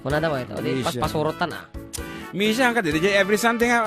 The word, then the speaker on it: Mischa: Pero Mischa ka no? The pronunciation. Yeah, M-I-S-C-H-A. So, yes, Mischa.